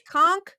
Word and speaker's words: conch: it you and The Conch just put V conch I never know how to say it I've